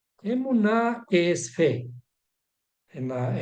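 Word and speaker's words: אמונה: conocemos como emuna vamos a escribir Cómo se pronuncia esto emuna emuna que es fe en la en el español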